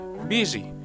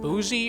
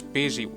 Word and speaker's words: busy: how they are pronounced busy here we can see the the u does not make the sound we might expect instead it makes an uh sound it is not boozy or big buzzy it's